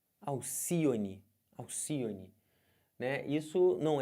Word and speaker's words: Alcione: é uma ave mitológica o nome dela é Alcione e não Alcione é Alcione as sílaba tônica é essa aqui então se você conta última penúltima antepenúltima Alcione é uma palavra proparoxítona beleza aqui ó aríete